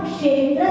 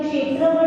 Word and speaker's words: क्षेत्र: यहाँ पे दो जगह याद रखना, एक जगह सत्संख्या क्षेत्र स्पर्शन, जो क्षेत्र है, क्षेत्र का जो क्ष है वो क्षत्रिय वाला क्ष है, इसलिए उसमें क जैसा प्रोनाउंसिएशन संख्या के बाद बोलेंगे।